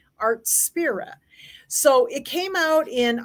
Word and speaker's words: Artspira: according to the videos they call it artspira is what they're calling it I I wasn't sure how to pronounce it but everybody has pronounced it art spirit so it came out